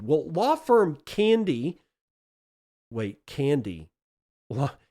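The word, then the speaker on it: Candey: Wait, Candy? Well, it's spelled C A N D E Y, but it's I guess it's pronounced Candy.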